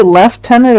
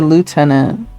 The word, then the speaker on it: lieutenant: Do people say left tenant or lieutenant? I don't really I think we say lieutenant in Canada. Canada. I think left tenant is like the British the British term the British pronunciation.